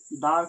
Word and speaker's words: the: সো আমি বলেছিলাম দার কখনো উচ্চারণ হয় দি, আবার কখনো উচ্চারণ হয় দা। কখন হয় দেখো, কনসোনান্ট এর আগে উচ্চারণ হয় কি দা দা ওকে কনসোনেন্টের এর আগে উচ্চারণ হয় দা আর ভাওয়েল এর আগে উচ্চারণ হয় দি স্পেলিং একই কিন্তু ভাওয়েল আর অথবা কনসোনেন্টের উপর ডিপেন্ড করে উচ্চারণটা ডিফারেন্ট হচ্ছে ওকে যেমন একটা এক্সাম্পল